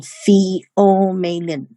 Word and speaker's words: pheomelanin: It's pronounced as eumelanin and pheomelanin.